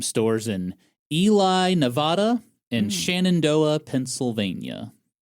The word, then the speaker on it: Shenandoah: I do not understand Shendo for Shenandoah, Pennsylvania.